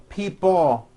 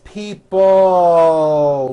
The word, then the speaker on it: people: Notice in this last word, people, it's not pronounced people with your tongue not moving. It's people with your tongue slowly moving up and your jaw remaining down. Stretch out that L sound.